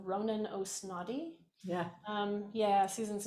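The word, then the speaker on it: Ó Snodaigh: in your head his his name is spelled quite it's one of the great you know irish many many syllables and consonants and it just sounds like oh snotty when you say it but um ronan osnotti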